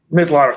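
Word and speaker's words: Mitloehner: Mitloner.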